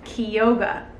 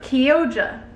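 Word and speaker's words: Chioggia: then we have oh how is this pronounced key yoga or kiyoja it's c-h-i-o-g-i-a i'll put it on the screen i was saying kyoga kyogia whatever but kyogre i'm not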